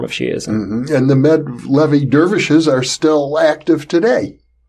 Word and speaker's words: Mevlevi: Mevlevi it's a Turkish pronunciation of the word Molavi, which comes from Maulana.